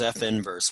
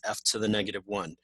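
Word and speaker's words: f⁻¹: we pronounce it as f inverse we absolutely absolutely never ever ever pronounce it as f to the negative 1 you can say the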